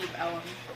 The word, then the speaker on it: Deep Ellum: Yes, at DeLuca's in Deep Ellum. Okay. That's how you pronounce it.